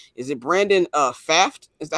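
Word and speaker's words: Pfaadt: Fought Fott. Okay, there we like go. Fought. There we go. Yeah. Brandon Fott. Okay, now The P is this silent. the P is silent.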